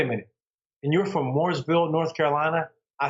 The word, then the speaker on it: Mooresville: i said no no it's not morrisville north carolina it's mooresville north carolina they said i don't